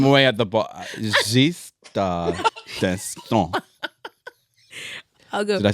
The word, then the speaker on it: d'Estaing: I will say that the three of you sort of kind of mispronounced the last name. Oh. What is it? D'Estaing. It would be D'Estaing.